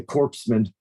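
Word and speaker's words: corpsman: Still not pronouncing the P in corpse. I'm like, huh? Yeah. The corpseman.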